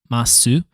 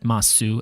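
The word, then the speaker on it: ます: The second one is normally su, but no, every single context where we see mas at the like ending here, I have exclusively only heard it as just mas and not like masu.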